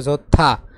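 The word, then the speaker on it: 좋다: খিবুনি ঝোত্থা এর উচ্চারণ হবে ঝোত্থা। দ্বিগত উচ্চারণ কি হবে এখানে থ হবে।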